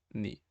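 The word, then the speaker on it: 二: momento podemos quedarnos con que el dos se pronuncia ni por lo tanto nik segundo piso posteriormente tenemos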